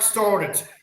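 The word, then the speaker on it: Stoddart: see I get a blank so it's started. S T O D A R T folks. Okay. So, anyone listening saying he pronounced it wrong, it's also on the screen there.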